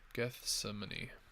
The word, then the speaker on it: Gethsemane: Gethsemane.